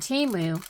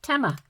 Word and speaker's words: Temu: the commercial for team I've been calling it teu all along not knowing how to pronounce it of course and they called it uh TMA so who would have